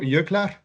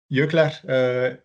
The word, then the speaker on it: Jöklar: And in your works, there is also Jöklar. Jöklar, J O with Oh, Jokter. points. Yes. I pronounce it the Icelandic way, but maybe it's No, you're correct, of course, yeah.